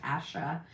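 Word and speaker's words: Passha: P A S S H A. I think it's pronounced pronounced Pasha.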